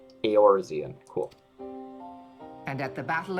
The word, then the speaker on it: Eorzean: Eorzean. I know they said it previously, but I forgot how it was pronounced. I was pronouncing it just Orzean. Eorzean.